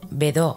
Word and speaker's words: Bedaux: y desarrolla su sistema el método bedau pronunciado bedo en francés Es un sistema que